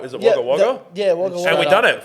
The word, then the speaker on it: Wagga Wagga: Is it Wagga Wagga? Wagga Wagga.